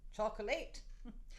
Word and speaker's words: chocolate: Chocolate? She insisted that that word be pronounced exactly as it was spelled. Chocolate?